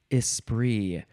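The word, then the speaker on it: esprit: the next word is ispr uh and it is spelled e s s p r i t because it is French noun from 1573 number one is vivacious cleverness or wit espri and then number two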